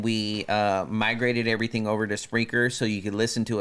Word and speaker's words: Spreaker: And we migrated everything over to Spreaker so you could listen to us live via their app. Spreaker is spelled S-P-R-E-A-K-E-R.